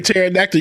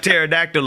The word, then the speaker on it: pterodactyl: what is it james because the p is silent you know i was looking up pterodactyl about a week ago